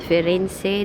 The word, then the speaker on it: Firenze: Firenze. That's Florence in English but in Italian it's Firen.